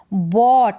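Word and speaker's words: bought: पसंद है रोहन रोहन बट क्या है बट है बाय की सेकंड फॉर्म बाय का मतलब खरीदना तो बट का मतलब खरीदा जीएच यहां पर साइलेंट है क्या है जीएच यहां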